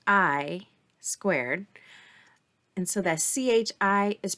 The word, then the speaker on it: chi: squared and so that Chi is pronounced Chi like a k like kite so Chi Squared Distribution